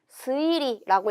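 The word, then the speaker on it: 推理: 얘 어떻게 읽어야 되냐면 추리 스이리라고 읽을 거예요. 스라는 발음으로 읽은 것을 체크해 주세요.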